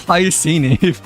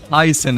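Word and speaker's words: Hyacine: Wait, she's pronounced as hyen. Okay. I thought it's pronounced I thought it's always pronounced as hyini for some reason but like okay so official pronunciation is hyasin instead but like oh yeah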